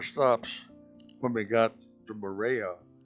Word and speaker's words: Moorea: This was another one of our stops when we got to Moorea. It's interesting. We pronounce it Moorea, but the people there pronounce it Moorea.